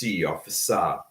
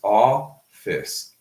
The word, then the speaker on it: office: Normally, we do not pronounce an E at the end of a word, right? In 99% of situations, if we have an E at the end of a word, it is silent, okay? 100% silent, like in office.